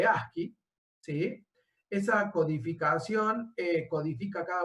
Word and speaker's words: ASCII: La codificación, en realidad hay formas de codificar, la más famosa la deben haber sentido nombrar, que se escribe así y se lee ASCII, ¿sí?